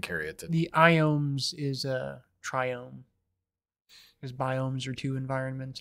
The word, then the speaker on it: Triome: triome triome triome probably triome I say triome I think it's it's probably triome because like I know like biome is the pronunciation of that so I think it's try buy two I don't I really